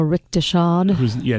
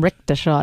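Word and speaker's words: Rechtshaid: I think because Ariel Richteshad. Notice I let you say the name because I didn't want to embarrass myself. I always call him Richteshad, and he's like, "That's not how you pronounce it."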